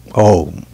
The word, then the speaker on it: Om: So, now, the general description of Om is that it's a three-syllable word with A, U, and M. Om. A, U, and M, which is Om.